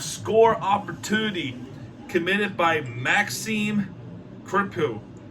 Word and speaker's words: Crépeau: There was a denial of score opportunity committed by Maxime Crépeau. I can't pronounce it. It's Crépeau.